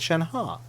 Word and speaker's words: Shenhe: She said Shen-Ha.